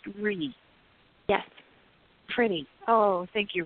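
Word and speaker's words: Rhi: sure I can it's RH I and it's pronounced re yes pretty oh thank you re a pretty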